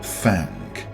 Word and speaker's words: Thang: And yes, it's pronounced thank with that telltale twang that all the Appalachian old-timers seem to have.